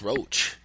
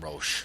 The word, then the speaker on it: Roche: All right, that was comedian Frank Roach. Yeah. And movie maker. Yeah, comedian, Italy Boys. We learned how to pronounce his last name the correct way. Yeah, I've been calling him Roche.